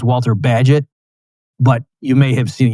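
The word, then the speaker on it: Bagehot: Okay, by the way, that his name is pronounced Walter Badget, but you may have seen you might be thinking it's Walter Bagahhat or something because it's spelled B- A G- E H O T.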